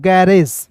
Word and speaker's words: garage: फिर देखिए यहाँ पे GARAGE क्या पढ़ते हैं दोस्तों? गैरेज। देखिएगा GAR पढ़ लेंगे गौर। यहाँ पे देखिए जी का ग, आर का र। क्लियर है? दो कॉन्सोनेंट के बीच में ए आता है तो इसका उच्चारण आय के रूप में। क्लियर है? अब देखिए यहां तक आपका क्लियर हो गया। आर के बाद दोस्तों ए है और अंतिम में ई है तो इसे पढ़ेंगे ए।